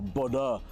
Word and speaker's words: Bodø: All right, well, welcome to Bodø, or Bodø, as I believe locals pronounce it.